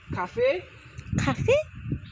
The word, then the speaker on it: 咖啡: It means pronounced as cafe. cafe.